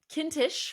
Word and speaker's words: Kintisch: And Kintisch rhymes with Mintish.